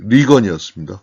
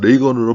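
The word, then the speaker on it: Reagan: 뭐 여담을 하면 레이건 대통령은 배우 때 리건이었습니다. 그러다가 대통령 후보가 될 때 나를 이제부터 레이건으로 불러 달라.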